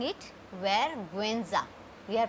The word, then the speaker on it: vergüenza: Now rule number 3 is, but if you see something like this on U, this is called diaresis. Diaresis. If you have something on this like E or GUI, so we will pronounce the U.